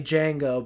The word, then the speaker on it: Django: django and he's like can you spell that he's like d-g-a-n-g-o the d is silent and the guy's like i know that's the guy who used to play django back in the day